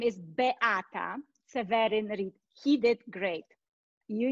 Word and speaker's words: Beata: you let me go back my name is be atta severin he did great you need i need